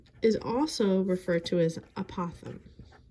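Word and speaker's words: apothem: But the height in this is also referred to as apothegm. It sounds like an opossum, but it's spelled differently. Apothegm, the height, is anything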